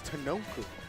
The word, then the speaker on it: Tanoku: have in winner's quarters Tanoku versus Hothrick Jen. Well, that's how you pronounce them, right? Tanoku. It's like Tanuki, but or like the Noku. Yo, it's Tanoku.